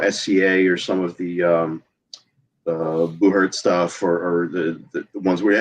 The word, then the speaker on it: buhurt: I think it was called Battle of Nations, and if you look up, I think it's pronounced Buhurt, Buhurt, you'll find people.